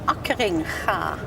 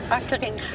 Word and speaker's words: Akkeringa: My only problem is I never know how to pronounce him. His name is Jan Akkeringa. Perfect. Well, now I know, but I I'll try and pronounce Akkeringa. Akkeringa. Akkeringa.